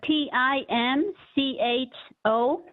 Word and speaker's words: Tim Cho: a Tom what was the last name uh t i m c h o Tim Cho okay thank you okay I'm glad you pronounced it for me Helen what Society they're